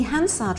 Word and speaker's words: Hansard: The next question is, what is Hansard? Hansard? Hansard! You have to say it like that. Yes, it's ever so posh, isn't it?